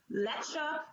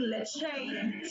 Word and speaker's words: Lecha: Liche, Lecha, and it can be confusing because I think people, connect that with the, Spanish milk, Leche. So he would call me Leche to the end. He knows he's not saying it right, but he still is gonna say it.